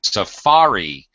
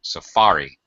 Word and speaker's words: safari: pronunciation actually syllable stress Safari um the saari it's the second syllable stress gets a pretty high stress so Safari um okay arell uh